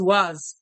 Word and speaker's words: was: Muita atenção na pronúncia desse was, que ele termina como se fosse com Z.